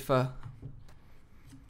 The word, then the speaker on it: pho: know what that is her dad makes homemade fuh that's why I'm not saying do you know